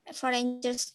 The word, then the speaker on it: foreigner: Ini bacanya foreigner. Emang begitu bahasa Inggris. Dulu saya pernah punya murid sampai protes, Bu, itu bahasanya munafik. Ini ada G-nya kok nggak dibaca gitu kan.